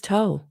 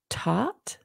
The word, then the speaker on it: Thoth: wow okay it is toe yeah the H is silent so maybe um let's see pronounced with a silent h so it would be taught also known as tahudi